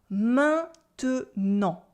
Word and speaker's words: maintenant: Maintenant. Repeat after me. Maintenant. Maintenant. Maintenant. And obviously, in fast spoken French, we're going to cut the E in the middle and say maintenant.